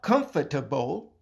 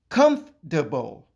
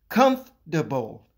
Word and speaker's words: comfortable: No, it is not comfortable. It is not even comfortable. It is pronounced comfortable. I repeat, comfortable in three syllables.